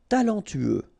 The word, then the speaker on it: talentueux: Talentueux. Final X not pronounced. Then you get this U together.